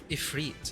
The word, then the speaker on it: Ifrit: Ifrit, and that's how you pronounce it.